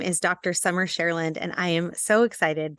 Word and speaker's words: Cherland: Cherland. You might know the singer named Cher. I live in her land. That might give you a good idea as to how to pronounce my name, but it's truly fine